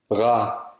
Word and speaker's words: rar: For example, when the letter A comes before or after R, it's pronounced A. For example, Rar.